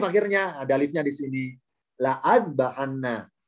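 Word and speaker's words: لأذبحنه: Oleh Allah tambahi alif akhirnya, ada alifnya di sini, la'at bahanna. Jadi adanya alif, nggak ada alif, nggak pengaruh. Tetap hamzanya loncat, bacanya ke huruf dal.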